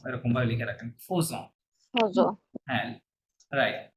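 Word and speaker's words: faisons: Phase, phase phase, ফেজন হবে না, stop, ফেজন হবে না। ফরাসিরা এই জিনিসটা কি বলে, ফোজন, কি বলে, ফোজন। অজ, লেখা ফজ আছে ফেজন, মানে লেখা আছে ফেজন কিন্তু বলে কি, ফোজন।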